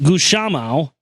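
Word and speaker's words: Gusmão: The true honor instead goes to Bartholomew de Gussamao, pronounced Gushamao.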